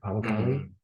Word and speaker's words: Pamukkale: Pamukkale.